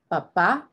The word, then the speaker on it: papá: If you have an accent on the second A, papá versus papa.